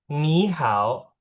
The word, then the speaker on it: 你好: Itu kan kalau kita cara bacanya pakai Indonesia. Sebenarnya kalau cara pakai Mandarin gimana cara bacanya ya?